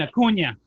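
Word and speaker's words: Acuña: Have the accent over the end. Acuna.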